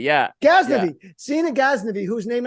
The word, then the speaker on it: Ghaznavi: Ghaznavi, yeah. Ghaznavi.